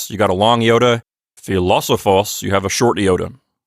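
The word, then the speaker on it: φιλόσοφος: our new word for this lesson means philosopher and it has the accent on the third syllable from the end so it's philosophos we don't have any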